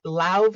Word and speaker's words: Laufey: I'm pretty sure it's with a V, and it's Lauve or Lave.